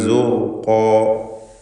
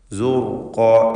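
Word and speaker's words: زُرْقًا: യൗമഇദിൻ സുർഖാ, സുർഖാ, ഇതിൽ റായിന് തഫ്ഖീമാണ്. ശേഷം വന്ന ഖാഫിനും അതിൻ്റെ ദീർഘാക്ഷരമായ അലിഫിനും തഫ്ഖീം വരണം. സുർഖാ സുർഖാ.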